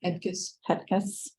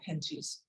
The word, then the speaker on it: Hetkes: Hetkes, our new Director of Operations. Actually, she pronounces it Henchies.